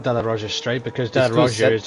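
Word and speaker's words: della Roggia: No, that's Della Roja. I said Sella Roja, so it begins with an S because that's what I saw on my track map. Seraglio. Yeah, so I just said it wrong then.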